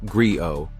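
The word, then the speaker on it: griot: history culture and values a Grio pronounced Grio was a Storyteller historian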